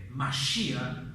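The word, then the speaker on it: משיח: Mashiach es la pronunciación en hebreo, que significa el ungido o el consagrado.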